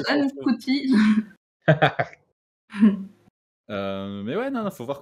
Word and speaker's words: Ncuti: Alors, ça se prononce Anne Couty.